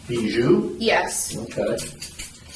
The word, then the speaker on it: Bijoux: Buju. Bju.